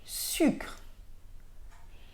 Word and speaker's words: sucre: อ ก เ สี ย ง Autre exemple, sucre. Sucre ou sucre. Donc ça s'écrit S-U-C-R-E.